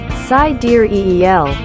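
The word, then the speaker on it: Sideræl: told the magazine finally sidereel which is pronounced side deer eel is a more elven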